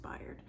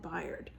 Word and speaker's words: Bayard: So, or Bayard, I guess it's pronounced Bayard.